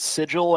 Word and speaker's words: sigil: Justin, it's pronounced sigil, and this is why they make science majors take English classes.